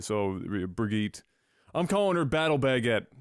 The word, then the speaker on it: Brigitte: that plays out but I think it's supposed to be a hard G like in her in